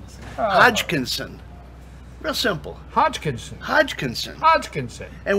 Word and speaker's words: Hodgkinson: Hodgkinson. Hodgkinson.